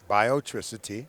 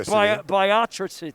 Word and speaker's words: Biotricity: he's the ceo of is it biotricity biotricity i pronounced it right not biobiotracy no biotricity you said it to